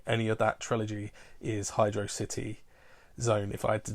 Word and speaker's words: Hydro City: And that's Hydro City from Sonic the Hedgehog 3. And I know a lot of people will say it's pronounced Hydrocity.